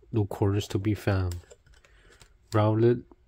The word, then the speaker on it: Rowlet: Rowlet, let rhyme with now.